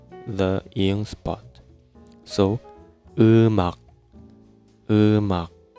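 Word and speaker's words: 음악: Eumak. We write like this. eum ak Right. Sorry for my stupid drawing. Eumak, when we write, when we pronounce it, eumak.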